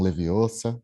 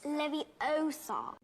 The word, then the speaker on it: Leviosa: Desculpem os fãs, mas eles não vão aparecer nesse momento que você tá lá dosando para fazer um Leviosa. You're saying it wrong. It's Leviosa.